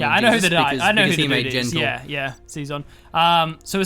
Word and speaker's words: Xezon: as our China nuke zon's the guy that made okay right so you pronounce it zon yeah what you said Xenon it's clearly not an N okay yeah but like